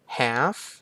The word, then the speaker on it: half: Palm Palm ก็ คือ ฝ่า มือ ต่อ มา have Have แปล ว่า ครึ่ง อัน นี้ จะ อ่าน